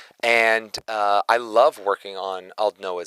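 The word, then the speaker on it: Aldnoah.Zero: Max Middleman, he told me, he's like, you want to think of it as bald and just chop the B part off. So it's Aldnoah 0. That's how I remember how to say it correctly.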